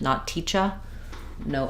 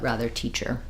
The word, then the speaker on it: teacher: question about teacher um so in American English we do say the IR sound for this unstressed ER at the end not teacher no uh sound but rather teacher paper teacher weather Etc um we don't want it to be strong not teacher but also um it still needs to keep that ER position so pretty much 99.9%